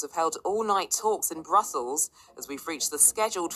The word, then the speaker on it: Brussels: Brussels, a city in Belgium, 벨기에 도시죠. And the capital of Belgium, 예, 벨기에 수도인 브뤼셀이 되겠습니다. 여기서 보시는 거는 예, 철자 U가 발음은 예, 어로 많이 난다는 사실이죠.